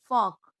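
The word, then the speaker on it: folk: इसका अगला रूल है जब ए ओ यू इन तीनों में से किसी के बाद एल आए तो एल साइलेंट होता है। जैसे एच ए एल F half T एच ए एल के चौक एफ ओ एल के फोक पी ओ यू एल D good.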